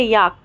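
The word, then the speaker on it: yolk: भी L silent है याक याक में भी साइलेंट है और फॉक फॉक फॉक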